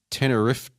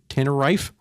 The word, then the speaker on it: Tenerife: in 1657 a battle in Santa Cruz Bay teneri tenery I have no idea how to pronounce that Tenerife English Fleet under Robert Blake Robert Blake you